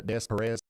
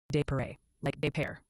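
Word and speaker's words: Des Peres: It's called a desparez. Oh, honey. It's actually pronounced de like pair.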